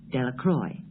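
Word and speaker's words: Delacroix: Bobby and Harry Jones and Vicki Deloqua, the villagers pronounced this name Delroy.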